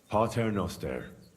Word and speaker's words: Pater noster: You're saying it wrong. Listen. It goes like this. Pater noster, qui es in celis, sanctificetur nomen tuum.